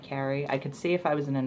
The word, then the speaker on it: Carrie: But I get Kari a surprising amount here in the U.S. Kari Wurr didn't help with that, because that's how she pronounces her name, and she's older than me, so she technically had the name first, but yeah, it's Carrie.